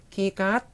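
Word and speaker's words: คีย์การ์ด: 키 하고 평성으로 하시면 이게 바로 영어의 키고요. 깟 하고 삼성으로 하셔야 돼요. 깟 하고 삼성으로 하셔야 카드라는 뜻이 있어가지고요. 같이 발음해 보시면 키깟 키깟 하시면 되거든요.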